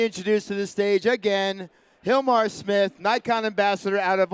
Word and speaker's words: Gilmar: to introduce myself so my name is Hilmar with a G but it's pronounced like if was an H because my mom's my